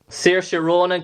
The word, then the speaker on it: Saoirse Ronan: And now I have to get this right because I don't know how to pronounce her name because I'm so learning challenged. But Saoirse Ronan. Saoirse Ronan, correct.